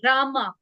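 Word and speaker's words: Rahmah: और इसका नाम है रामा नाम हम बोलते हैं लेकिन जो प्रोनाउंसिएशन इसका होगा रामा ऐसे बोलना है रामा आर ए एच एम ए एच ऐसे आपको इसको प्रोनाउंस करना है और इसका कलर होता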